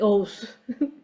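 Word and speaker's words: Oğuz: at my last name I have a silent G which is very confusing it's actually O's uh so today I'll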